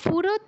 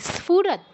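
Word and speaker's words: स्फुरत्: আপনি তো ওটার উচ্চারণটা উচিত আছে আপনার উচ্চারণ, মানে পুরুষচন্দ না, ফুরত নয়, স্ফুরত, স্ফুরত, স্ফুরত।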